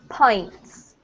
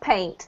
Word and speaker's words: pint: a very important word pains pains pints pints yeah not paint that's the stuff that